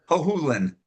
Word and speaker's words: Hohulen: Hohulen. Thank you. Thank you. I It rhymes with no foolin.